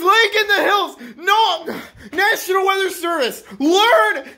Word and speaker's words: Lake in the Hills: And number three, it's not pronounced Lake Indiana the Hills! It is Lake in the Hills!